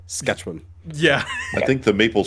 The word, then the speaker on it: Saskatchewan: You're putting way too many syllables there. Saskatchewan.